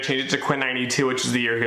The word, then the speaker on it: XCII: I'm going to cover Quinn that 92 I'd spelled with like an axe CI I quick story and